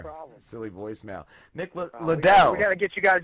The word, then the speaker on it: Leidl: Nick, do you pronounce it Leidl? Leidl. Leidl.